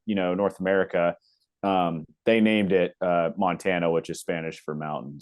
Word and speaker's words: Montana: Did you ask if it's Montana or pronounced a different way or? Yeah. Just Montana.